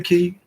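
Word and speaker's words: Cay: Go to Stanley Key, which Key is spelled C-A-Y. Don't let that fool you. Spelled like it would be K, but it's pronounced Key.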